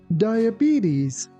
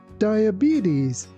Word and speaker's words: diabetes: Diabetes. Diabetes.